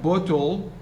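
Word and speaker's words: bottle: in the second syllable forget about the e the e is not pronounced here it's not uh pronounced so based on al which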